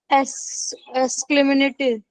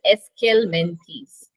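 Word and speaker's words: Aschelminthes: बिल्कुल सही कहा आपने नॉनी, जो आपने शायद प्रोनाउंसिएशन थोड़ा सा आपसे गड़बड़ हो रहा था, दैट इज एस्केलमेंथीस।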